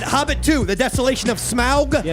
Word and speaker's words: Smaug: two the desolation of smaug yeah i actually had a voiceover in here to pronounce it like that smile i got all these